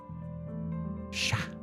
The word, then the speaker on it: chat: But apparently, yeah, feminine cat is shat and male cat is just sha sha sha sha sha. That actually makes it much easier. So it is just sha sha sha gendered.